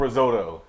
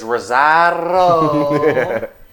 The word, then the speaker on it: Rosario: Okay, I called him risotto. It's Rosario.